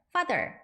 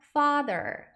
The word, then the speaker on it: father: 하고 옆으로 또 쫙 거놓은 거 보시면 이게 길게 발음을 하는구나 생각하시면 돼요. 그래서 father 아니라 father 이렇게 발음하시면 됩니다.